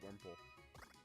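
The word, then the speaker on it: Wurmple: me see beautify those Rumple not wimple what I thought it was pronounced Rumple because I thought I saw like the W like right after or the r right after W sir noon I would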